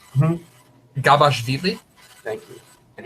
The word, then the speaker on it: Gabashvili: Gabashvili.